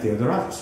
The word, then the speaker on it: Theodoratus: Yes, we are in New York with private lessons member Mia Theodoratus. Am I pronouncing it right?